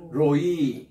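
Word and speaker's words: רֹעִי: 긴이가 긴 거예요 따라다 로이 로이 그 액센트가 뒤에 있습니다 로이 교회가 아니라 로이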